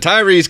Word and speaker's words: Tyrese: Gibson ludicrous Jason M tyes Tyrese Tyrese I'm sorry I mispronounced it Tyrese Gibson tyres I don't